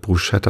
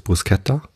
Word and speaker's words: bruschetta: Und das schreibt man ja Bruschetta. Und viele sprechen es deshalb Bruschetta aus, weil SCH ist halt, ne? Ich glaube, die korrekte Aussprache ist Bruschetta. So habe ich es beim Italiener mal gehört. Ich bin halt kein Italiener, ich kann auch kein Italienisch. Aber ich glaube, das S gehört halt nicht zum CH dazu.